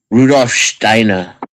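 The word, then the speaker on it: Rudolf Steiner: for example Rosacrusian you have to say it like this Rudolph Steiner Steiner but regard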